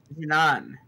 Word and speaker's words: Jinan: Jinan.